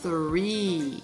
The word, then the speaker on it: three: Attention à la prononciation. On doit coller ses dents sur la langue et souffler. Ensuite, on a le R qui est en milieu de mots qui se prononce en remontant la pointe de la langue vers le palais. Écoute bien. Three. Répète plusieurs fois.